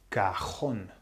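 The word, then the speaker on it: cajón: So therefore, the emphasis, just like the previous one, should be on the A. But it's not. It's cajon. So this word also needs an accent on the O to show that this is not normal.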